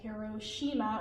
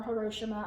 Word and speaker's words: Hiroshima: President Truman made the decision to drop an atomic bomb on the Japanese city of Hiroshima, or Hiroshima, I've heard it pronounced both ways, on August 6th.